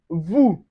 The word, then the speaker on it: vous: We also have the o u which is going to give us the ooh sound just like in vous.